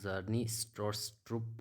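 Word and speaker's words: Stroustrup: इसकी प्रोनाउंसिएशन आपका जर्नी स्टोरस्ट्रुप होगी, ठीक है, या आप कुछ भी पढ़िए इसे।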